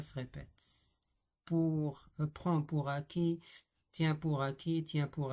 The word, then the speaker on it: acquis: Donc on prononce euh, ils ont la même prononciation acquis, acquis, mais ici avec S, ici avec T, bourrelet, bourré.